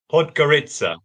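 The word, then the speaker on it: Podgorica: I think yeah so I'm gonna get my pronunciation now po pod gitaa yes pod gitaa yes okay excellent so that's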